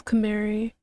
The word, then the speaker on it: Camary: Yeah, I was read as Camary. Yeah, it says Camary.